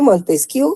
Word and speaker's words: Montesquieu: Se escribe Montesquieu, jóvenes, se pronuncia Montesquieu, ¿oyeron?